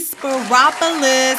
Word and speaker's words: Speropoulos: am talking about the one the only amy spiropolis are you beautiful i'm doing great and you just pronounced my name so beautifully good you did